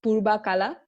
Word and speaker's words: Purbakala: In Malay, it would be Purbakala. Okay. Is that, it sounds... Yeah, it's pretty similar. So it was Purvakala, but the interesting fact here is that the sound V often changes to B, even in some of